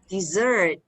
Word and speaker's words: dessert: okay all right but the stress is on the second syllable dessert and don't forget it's